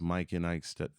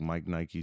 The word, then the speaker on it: Mike N Ike: So everything is Mike N Ike Studios. It's spelled like Mike Nike Studios. And I like when people used to call it Mike Nike Studios on accident.